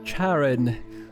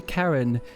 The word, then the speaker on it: Charon: ago I learned that in British English that would be pronounced Charon which sounds very strange indeed and in American English that would be Karen and I can't just